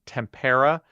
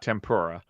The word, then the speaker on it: tempera: Also, it is uh two plus also points out it is pronounced tempera, not tempora, which you know like tempora.